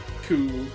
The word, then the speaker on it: coup: How do you say the word that is spelled C-O-U-P? Cool.